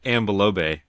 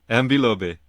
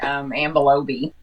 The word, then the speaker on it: Ambilobe: Yeah, and I've been saying Laube, right? No. Big mistake. You say it correctly. Say it correctly. Ambilobe.